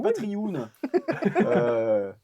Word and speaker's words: Patreon: Putain, la prononciation. Patreon. Le Patreon.